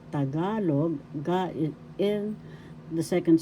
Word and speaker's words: Tagalog: First syllable ta, second syllable ga, third syllable log. Tagalog, ga in the second syllable is the accent.